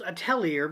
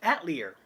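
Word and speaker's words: Atelier: were not switch games I have been pronouncing this wrong the entire time I thought it was a Tellier because I don't know how to freakin pronounce anything but it's at Lear I guess and it says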